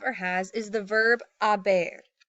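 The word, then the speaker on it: haber: and an they have again do not pronounce the H's so it's a a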